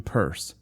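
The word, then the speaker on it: Pierce: She had one president, pronounce him Purse, and make the most of it for better or worse.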